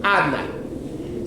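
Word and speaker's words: Adonai: But you read it, it's written Yud Kei Vav Kei, but you're pronouncing it Adnai.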